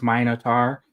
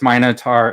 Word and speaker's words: Minotaur: Brian's helping me with the pronunciation, so he also says Minotaur, and G4 says Minotaur as well. There was no E on the end of that. That was Minotaur. Yeah, Minotaur.